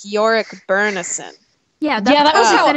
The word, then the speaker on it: Byrnison: I think that I the way I've heard it or the way I heard it in my head is similar to way I think the way they pronounce it in the film which we can have a whole other discussion about the film and how terrible that is but it's more like Byrnison so it's like York